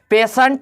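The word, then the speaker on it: patient: Initial पढ़ा गया, पेशेंट पढ़ा जाएगा, पेशेंट पढ़ा जाएगा। क्यों? क्योंकि ई आई, देखिए टी के बाद क्या है? आई है, इसलिए स में उच्चारण होगा, पेशेंट हो गया।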